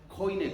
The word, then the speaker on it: Koine: language method, through the conversational Koine Greek, or Koine Greek, it depends how you pronounce it, the Biblical Language Center, and more recently with Biblingo.